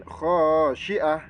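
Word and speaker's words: خاشعة: huruf Mim selanjutnya yaumidin khosyiah nah di kata atau di lafaz yaumaidin khosiah ini ada tanwin bertemu dengan huruf k ya jadi itu harus dibaca Idhar halq yang bacanya itu jelas tanpa dengung khiah Nah itu Syiah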